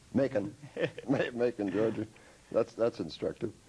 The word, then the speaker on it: Macon: you what you've already taught me how to pronounce mekong macon making georgie that's that's instructive uh you're taking